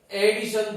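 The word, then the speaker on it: edition: इसी प्रकार से EDI, यहां ADDI है, ये ध्यान यही रखना है, ADDITION एडिशन, और EDI TION एडिशन, दोनों का प्रोनाउंसिएशन सेम है, मीनिंग अलग है।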